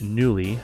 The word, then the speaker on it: Knulli: we're going to download What's called newly the K is silent I believe or cani or whatever